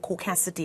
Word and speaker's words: caucasity: Because those of us who are trying to get into the world of caucasity, I think, did I say it correctly? You did, but you have to be more nasal. Caucasity.